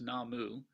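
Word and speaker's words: 南無: in Chinese would be Namo in Japan it's pronounced namu and these two characters the first two up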